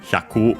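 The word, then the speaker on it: 百: Wanted to check, while we can check for hyaku specifically, with 100 hyaku on its own, accent on the last more.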